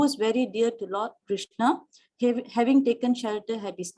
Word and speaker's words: Krishna: The words Hare, pronounced as Hare, Krishna, pronounced Krishna, and Rama rhymes with Rama, are Sanskrit words.